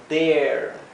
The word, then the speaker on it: dare: Dare, fíjense que es como una, como si fuera una vocal larga. Cuando tenemos la A, la R y la E, se pronuncia como si fuera una vocal bien larga.